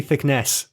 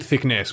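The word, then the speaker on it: Thicknesse: the names but captain it's actually thickness e-e-s-e you're always saying captain thickness uh it's thickness i pronounce it thickness please so captain thickness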